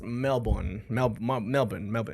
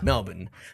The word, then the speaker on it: Melbourne: And they were adamant about telling everybody that it's not pronounced Melbourne, it's pronounced Melbourne. Melbourne. Oh, like there's no R. Yeah, there's no R in it.